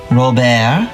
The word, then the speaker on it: Robert: His name is Robert. Robert? It actually rhymes with Schubert.